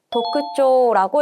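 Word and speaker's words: 特徴: 도크쇼라고 읽게 되죠.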